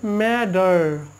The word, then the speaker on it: matter: তাহলে কি নো ম্যাটার, এই এখানে যে ম্যাটার আছে আসলে এটা ম্যা টিয়ের উচ্চারণ কিন্তু ড হয়, আমি আজকের এই ভিডিওতে